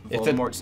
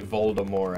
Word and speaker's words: Voldemort: Like, if you've read the Harry Potter books, it's like if you say Voldemort's name, like, he'll show up, like, once it gets tabooed.